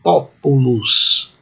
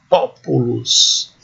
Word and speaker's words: populus: Então a pronúncia é assim, populus. Como se houvesse um acento agudo no O, populus.